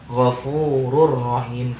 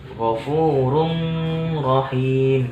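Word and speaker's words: غفور رحيم: yang kedua gofururohim gofururohim Jadi kalau misalnya wafung pun Rohim tidak memasukkan di harus memasukkan kedalam fullprof jadi cara bacanya Yang benar gofururohim kalau dengung cara bacanya Salah juga Ghofur Um Rohim itu salah Jadi yang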